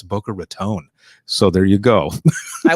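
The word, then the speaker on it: Boca Raton: just I want to make sure that I'm pronouncing it right because uh I was in Florida once and I said is this Booker ratan and they go don't you ever say that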